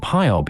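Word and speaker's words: Hiob: they were an H we call job hyob in German and we pronounce the final b as if it wereth P much as the Greeks did plainly chops is but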